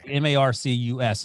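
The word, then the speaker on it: Marques: had marquis marcus carlson is it marquez or marquise we couldn't decide marcus okay m-a-r-c-u-s is how you pronounce it marcus marcus colston i can't remember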